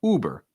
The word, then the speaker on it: Uber: Key thing is not to overstress the second syllable. It's not bear, it's just burr, burr. It's almost like a BR. It's almost like the E isn't there. Burr.